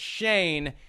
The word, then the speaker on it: Schoen: how to pronounce it is it shine is it shown is it shun it's shane he's the new general